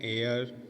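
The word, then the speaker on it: heir: आवाज मिल रही है एन एयर इसको हेयर पड़ते हैं कुछ लोग लेकिन ऐड किसकी ऐड साइलेंट रहता है एन डबल मैन यह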